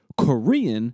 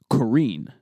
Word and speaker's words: Korean: We just know that it's not pronounced karine.